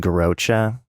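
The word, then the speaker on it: Garrotxa: and cheddar well there's this Spanish cheese called garocha that's spelled uh with two x's in the middle and whenever somebody would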